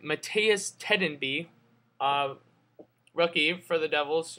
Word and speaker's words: Mattias Tedenby: about two minutes later Mehmet metea let me pronounce this right Mattias tedenby of rookie for the devil's you know since